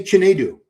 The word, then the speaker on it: Chinedu: Chinedu Obeka. Chinedu Obeka. Just say Chinedu.